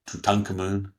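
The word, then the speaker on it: Tutankhamun: Tuten Camun or Tutankamun as some people pronounce it died early.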